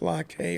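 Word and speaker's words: Lai Khê: I can't spell the Vietnamese trip, but it's pronounced Lackey or Lackey.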